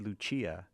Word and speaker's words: Lucia: I think people say Lucia, and I said Lucia, and I think it's because they have this new character, Luce. It's actually because in Portuguese, the C is pronounced as an S, not a CH.